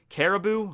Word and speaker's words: Caribou: Is it actually just pronounced like Caribou? Like the deer?